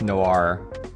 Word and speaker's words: Noir: so i was like which way do you pronounce it so she said it's noir here we go she's using rao 1013 and